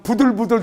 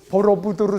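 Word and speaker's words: Borobudur: 보호 으로 부 두루 이제 발음이 어려우니까 그냥 한국 그 저 그 관광객들은 양 부들부들 사원이라고 합니다 부들부들 사원 보로부두르 사원 입니다 이게 이제 번역을 하자면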